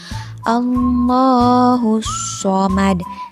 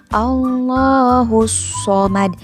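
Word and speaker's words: اللَّهُ الصَّمَدُ: Nah, di sini ketika membaca lafaz Allah berarti harus dipanjangkan terlebih dahulu. Allahus Shomad sambil ditekan dari huruf H ke huruf So. Allahus Shomad. Nah, di huruf So-nya itu jangan dibaca panjang ya karena tidak ada matobi'i.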